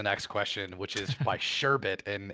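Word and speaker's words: Sherbit: question, which is by Sherbet, and it's Sherbet with B-I-T at the end, so I'm not saying it wrong.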